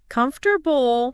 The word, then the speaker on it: comfortable: The stress should be on that first syllable.